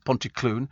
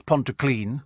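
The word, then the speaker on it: Pontyclun: tidy says Nigel from Pon Clon that's Ponto clean oh Ponto I get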